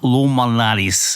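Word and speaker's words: Lou Malnati's: So as we say here in Chicago, it's Lo Malnati's, and that's the way to pronounce that way it.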